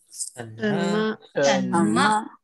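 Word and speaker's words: 什么: Kalau mau tanya-tanya, yang satu cakap cuma tuh bacanya gimana? Yang ini yang pertama ini. Shenme.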